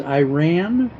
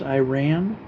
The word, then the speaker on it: Iran: Uh so back going back to you said it's Iran. It's pronounced Iran. Yes, that's correct. It's pronounced I ran like like the English sentence I ran.